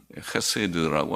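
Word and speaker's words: חסד: 거기는 인애 같은 말, 헤세드라고 하는 히브리 말로는 헤세드, 오늘 캐세, 발음이 해서 캐세드라고도 우리가 쓸 수 있고 헤세드라고도 하는데 해보다는 해에 가깝습니다. 헤세드.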